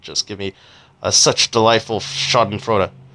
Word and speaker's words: Schadenfreude: give me such delightful Schadenfreude. Schadenfreude. I don't know how you. I prefer to pronounce it Schadenfreude because if you pronounce it Schadenfreude, you sound like a pretentious prick.